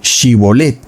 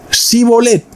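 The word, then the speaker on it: שיבולת: Entonces le decían, "Ahora pues di Shibolet." Y él decía, "Si bolet porque no podía pronunciar correctamente esa palabra."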